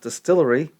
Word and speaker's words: DSTLRY: its debut this year it's pronounced Distillery uh this comes from